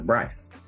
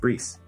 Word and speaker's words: Brees: I always pronounce his name as Bryce, but apparently it's pronounced Brees.